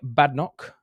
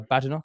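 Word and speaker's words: Badenoch: we've had recently um so new leader Kem badok uh badok as I say her name um is the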